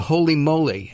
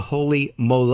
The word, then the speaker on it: Holy Mole: It's called a holy moly, and I mispronounced it. It's actually a holy mole.